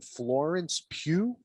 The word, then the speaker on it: Florence Pugh: Florence Pugh. Is that how you pronounce her name?